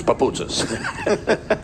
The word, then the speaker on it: Papoutzis: Yeah, it's interesting when you meet the families and the coaches, and someone had said how to pronounce the name, and the mother came over to me and said, no, it's Papoutzis.